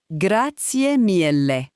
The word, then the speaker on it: Grazie mille: Chúng ta phát âm là, “GRAH-tsyeh MEEL-leh.” Hãy phát âm một cách bình tĩnh và mỉm cười.